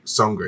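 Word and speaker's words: Seungri: How do you pronounce his name again? Songri.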